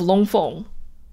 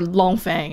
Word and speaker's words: Long Feng: under the supervision of long fong or long fang i guess gotta pronounce it the white way his name might mean